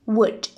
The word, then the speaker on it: would: we must imagine that the L sound the loose and is silent okay I mean we should say wood okay now I think my